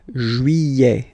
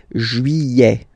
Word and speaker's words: juillet: Juillet. Don't pronounce this final T, E-T here at the end. Eh. Juillet.